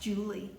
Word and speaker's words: July: the 18th century so up until the 1700s july was actually pronounced julie so you have a